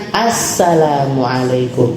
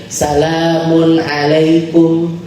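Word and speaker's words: السلام عليكم: Nah, sin termasuk yang syamsiyah. Makanya dibacanya assalamualaikum. Assalam. Jadi ada alif lam di depannya. Harus pakai ee makrifah. Gak boleh pakai nakirah. Enggak boleh gini. Salamun alaikum. Salamun alaikum. Enggak boleh.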